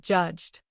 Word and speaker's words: judged: Here is another pair, reached and judged. Reached ends with CH, a voiceless sound, so use T. Judged ends with a voiced J sound, so use D.